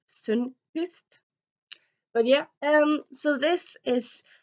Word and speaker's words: Sundquist: I suppose you should say it in English, Josh Sundquist. Because I'm Norwegian, I know it's supposed to be pronounced Sundquist.